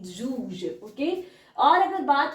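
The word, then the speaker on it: douze: वहीं पर अगर बात करें 12 की तो दूज दूज 12 को बोलते हैं डी ओ यू जड ई जूज ओके और अगर बात हो आगे थैज यहां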